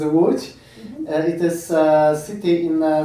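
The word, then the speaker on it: Łódź: the difficult of language you spell it l o d z and polish some Polish signs in it so it is wood it is a city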